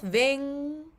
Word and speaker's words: vingar: So it's an NG with your tongue a little bit further back, touching the roof of your mouth.